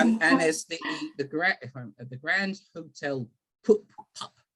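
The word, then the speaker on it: Pupp: Yeah, and there's the Grand Hotel Pup, it's pronounced.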